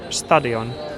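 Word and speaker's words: stadion: Стадион. Называйте про ударение на первый слог.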